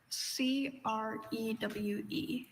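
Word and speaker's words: krewe: C R E W. Crew. Crew is spelled K R E W E.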